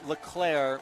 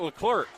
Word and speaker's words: LeClaire: Again, that's LeClaire with a silent C. Oh, it's not Leclerc.